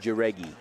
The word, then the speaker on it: Jaregi: Jordan Jaragai is the new pitcher. That's the pronunciation I'm using until I hear my mentor David Soria's pronounce it. He said Jaregi. Jaregi. We'll go with that. I like that even better. Easier to say.